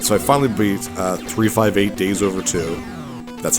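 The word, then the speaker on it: 358/2 Days: So, I finally beat uh 358 Days Over 2. That's how you pronounce it.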